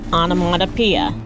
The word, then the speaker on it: onomatopoeia: So now you know that's pronounced onomatopoeia.